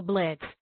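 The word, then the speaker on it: Blitzø: como él espera lao en el nombre de bleachzo es muda ya que es pronunciado como blets que en alemán significa Rayo Relámpago moxfield empleado de imp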